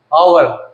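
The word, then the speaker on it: hour: देखो आवर आवर इसमें H silent होता है।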